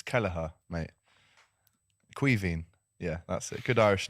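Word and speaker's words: Caoimhín: Quiveen.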